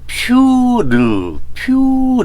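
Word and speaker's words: πῦρ: 그게 헬라어로는 피르란 말이에요. 피르. 그래서 이게 이렇게 발음이 좀 애매합니다. 퓨르 이런 의미를 갖고 있어요.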